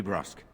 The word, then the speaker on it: brusque: to ask I did not mean to be brusque so that's how you pronounce that word thank you I should know